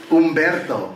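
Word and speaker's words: Humberto: name in the world umberto the h is silent by the way converto of your wife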